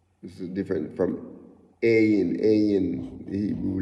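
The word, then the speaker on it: עין: Ayin, it has a more hard, you pronounce it with like you're saying like a, you cannot compare Hebrew with English, but like you say you know, ayin and mem.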